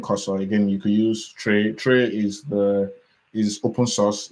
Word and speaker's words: Trae: So Tray is spelled Trae.